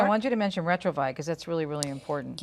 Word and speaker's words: Retrouvaille: Let's, Elena, I want you to mention Retrovi because that's really, really important. Yes, Retrovi is a program that helps couples to heal, to renew their marriage.